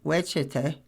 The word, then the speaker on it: Westchester: But Westchester, pronounced wet in the truncated lingo of Cubanameans, is its gravitational center.